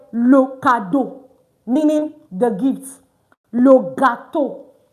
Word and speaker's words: cadeau: Because I emphasized in that video that when you have EAU, it's simply pronounced as O. Like O. O, O, O. So that's why I said le cadeau, meaning the gifts.